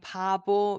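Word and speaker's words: 바보: one it has the same bucket bucket is B so it has that boo sound and next one there is a line in line above another line up there above so it has the O sound so when you say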